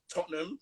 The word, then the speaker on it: Tottenham: I'm from North London, a place called, you Americans probably pronounce it Tottenham, because you don't love pronouncing ham in everything, like dragging the Right. words. You That's don't like to true. drag the words, but we're from Tottenham, Tottenham.